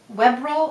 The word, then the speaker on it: Webril: And the last thing I love for this month are my Miss uh Webbril or Weebil depending on how you want to pronounce it. It's we b R I L.